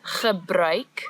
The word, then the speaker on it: gebruik: So the word is gebruik, the ch sound as before, and now we've added a new sound, ui.